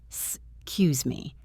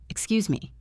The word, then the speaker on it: Excuse me: The pronunciation usually drops the first E slightly. Excuse me. But speaking clearly is also good. Excuse me. Let's practice the polite intonation. It should go up at the end.